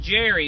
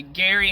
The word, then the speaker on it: Gerry: Uh but his name wasn't pronounced Jerry. It was actually pronounced Gary.